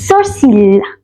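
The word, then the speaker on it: sourcils: s o u r c i l s soril then the next word is nose which is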